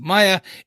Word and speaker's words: Maya: I think, so basically where this comes from is, obviously her name is pronounced Maya in the show.